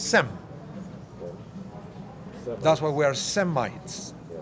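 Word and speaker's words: שם: How do you say Shem in Hebrew, in English? What is the name? Shem. It's Sem.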